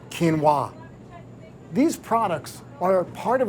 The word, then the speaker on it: quinoa: flax or Chia and how exactly do you pronounce that one quinoa quinoa it's actually quinoa these products are part